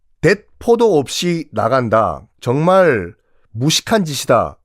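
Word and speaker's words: 鉄砲: 총포가 일본식 발음이 뎃포거든요. 뎃포. 여기서 나온 표현이 뭐냐면요. 전쟁 나갈 때 뎃포도 없이 나간다.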